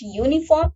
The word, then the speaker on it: uniform: But if we talk about uniform uniform uh the sound when we pronounce this word it here it listened uh to us to be like beginning with y.